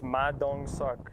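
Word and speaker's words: Ma Dong-seok: But I looked up, I specifically was like, this can't be real, like this is pronounced like Suk or something like that. It's like, no, it's pronounced suck. It's Ma Dong Suk.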